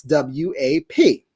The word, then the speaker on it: WAP: like that but um in terms of how to pronounce what uh right it's actually what wap okay so what i find